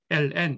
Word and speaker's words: ln: 자연 로그 1 똑같아요 그냥 로그 라고 읽으셔도 되고 ln 이렇게 읽으셔도 됩니다 자 그렇다면 왼쪽 접근한